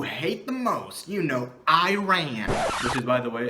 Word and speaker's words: Iran: Bangladesh, and even the country you hate the most, you know, Iran, which is, by the way, it's pronounced Iran, but okay.